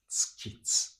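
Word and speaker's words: 月: So tsuki, moon, is tsuki. It's not U is not pronounced.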